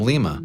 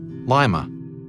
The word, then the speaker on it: Lima: city by the way gets its name from Lima the capital of Peru but locals insisted on pronouncing it Lima I called ahead to